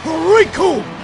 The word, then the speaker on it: Recoome: The name's Riku, and it rhymes with doom, and you're gonna be hurting all too soon.